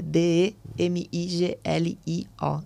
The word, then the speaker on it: Demiglio: Meu perfil, tenho meu perfil de social media, que é o @luana.demiglio, é um sobrenome complicado, mas é DEMIGLIO, Demiglio, como se fala mesmo, como se pronuncia.